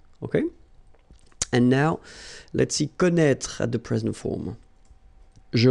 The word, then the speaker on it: connaît: So don't forget this circumflex, even if you don't pronounce it well, you should write it. Well, you pronounce these three forms the same way.